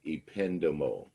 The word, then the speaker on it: ependymal: And that word is pronounced ependymal.